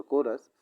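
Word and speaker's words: chorus: पढ़ने के अलावा गेस करो, अनुमान लगाओ कि कुछ और जो काम है, कोरस यानी चोरस भी बोल उसको प्रोनाउंसिएशन बहुत लोग करते हैं, बट यहाँ पर कोरस, कुछ और जो काम हैं जो कि पापा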